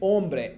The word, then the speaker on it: hombre: オンブレ、H、基本的のスペイン語の H を発音しません。